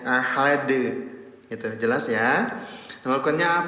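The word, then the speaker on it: أحد: Fayaumaidin laa yuadzibu adzabahu ahad. Dalnya disukunkan. Ketika dalnya disukunkan terjadi hukum tajwid yang namanya qol qalqalah. Pantulkan cara bacanya ahad.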